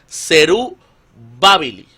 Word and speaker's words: Zerubabili: Luego se transcribe del acadio, este término se transcribe del acadio, que en el acadio sería Zerubabili, con Ok. acento en la A, ¿verdad?